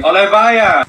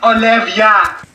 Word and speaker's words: Olivia: Sorry, Olevaya. What'd you say? Olevaya? It's Olivia.